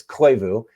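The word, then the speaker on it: Klevu: Group by hawk search CL took me a long time to forgot how to pronounce that one I had hear it like five times from those guys it's clu um spark AI which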